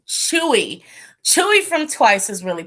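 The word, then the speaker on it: Tzuyu: Oh, I was gonna pronounce it Suyu. Chewy.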